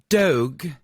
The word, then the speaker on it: Dogue: Dogue, which rhymes with Vogue.